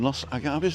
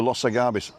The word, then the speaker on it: Los Agaves: So there's a hardware store in Los Agaves, that's how you spell it, L-O-S-A-G-A-V-E-S, but the V is like a small B.